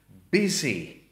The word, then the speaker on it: busy: But then if you look at the next word containing the same vowel, and we have busy. Busy.